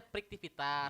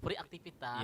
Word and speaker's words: Friktivitas: kan tanda bacanya harusnya friktivitas. Ya. Jadi banyak yang bilang tuh free aktivitas.